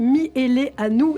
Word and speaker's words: Mihaileanu: Roger et Liliane, les grands-parents stars d'Internet, popularisés par leur petit-fils Gary Miele Anou. Et je le prononce bien à présent.